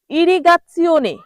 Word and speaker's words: irrigazione: পরের শব্দটি হলো ইরিগাচিওনে। ইরিগাচিওনে, দেখুন এটা কিন্তু একটু উচ্চারণটা কঠিন আছে এবং এর অর্থটাও কিন্তু আপনাদের অপরিচিত আমার মনে হয়।